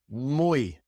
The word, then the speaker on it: muy: When the Y comes at the end of a word, well, then it's just pronounced like the Y in English at the end of a word. E, such as in muy. Mui reay oi oi. In these words, the y is pronounced e.